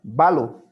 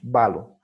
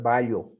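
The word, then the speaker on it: βάλλω: lambda doble la banda debes pronunciar como si hubiera una sola lambda valor no puedes pronunciar bayo si no es malo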